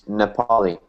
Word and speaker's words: Nepali: The proper pronunciation for this word here is Nepali. Nepali holidays.